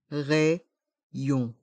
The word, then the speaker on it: rayon: panier le rayon le rayon dans le mot rayon on prononce le y deux fois les lettres a et y font le son e pour r et les